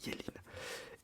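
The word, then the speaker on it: Yeleen: Y, pardon, Y-E-L-E-E-N. Ça se dit Yéline.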